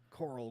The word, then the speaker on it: Carl: This Dave did the research on this one, but so this is Carl Eugene Watts, also known as Coral, literally spelled Coral, Okay. pronounced like Coral Grimes.